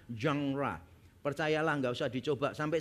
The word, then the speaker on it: genre: jenis sastra tertentu atau istilahnya adalah janra. Kalau orang-orang umum biasanya membacanya genre. Kalau saudara tahu genre itu berarti jenisnya. Bisa jenis musik, bisa jenis sastra. Nah, itu harusnya bacanya jangra.